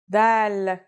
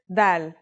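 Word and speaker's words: ذال: This letter is like the th sound in the word this.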